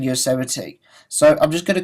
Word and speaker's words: Yosemite: OS X Yosemite, and that's actually the first time I've learned to pronounce Yosemite. I said Yosemite or something like that before, because I had